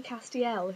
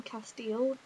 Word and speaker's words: Castiel: out of hell now when I first heard about this Castiel I pronounced his name Castile does anyone else do that I might just keep calling him Castile because in my view that is how it should be pronounced so I might just